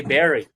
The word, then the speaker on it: bury: One guy said, "Look, you're saying bury, but it's actually berry."